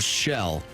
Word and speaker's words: Shel: So not like seashell. No, that would be no, two but I L's. didn't mean it like that, you know. So was it Skip? What else? Skip, Sid, or Shell.